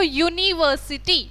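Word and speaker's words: university: ठीक है, एग्जाम्पल है यूनिवर्सिटी, यू से शुरू हो रहा है, लेकिन प्रोनाउंसिएशन करके देखो यूनिवर्सिटी, हिंदी में कैसे लिखेंगे, य से स्टार्ट करके लिखेंगे ना।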